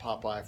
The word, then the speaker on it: POPIE: always you can always rely on Popeye okay not spelled like the cartoon character though